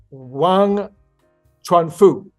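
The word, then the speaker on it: 王传福: founder is a guy by the name of Wang Tron Foo and I looked that up and that is how you pretty much how you pronounce it obviously depending on what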